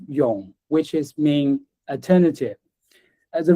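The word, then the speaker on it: 永: This character is is pronounced yong which is mean alternative.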